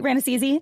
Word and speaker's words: Rannazzisi: Steve Rannazzisi. Am I saying it right, Rannazzisi? It's pronounced Smith. No, you got it right. Yeah, Rannazzisi.